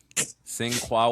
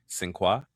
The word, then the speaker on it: Sinqua: Sin Qua Walls has been cast in Mana tomorrow in theaters on July 9th, 2027.